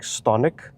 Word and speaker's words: Stonic: I did some research on the pronunciation, and you're supposed to pronounce it like Stonic.